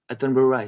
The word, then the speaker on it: Attenborough: For example, Nepenthes Attenborough, you have to pronounce like in English, Attenborough, Sir David Attenborough.